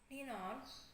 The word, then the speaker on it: Ninon: but you can call me Ninon, or let me spell it for you: November India, November Oscar, November.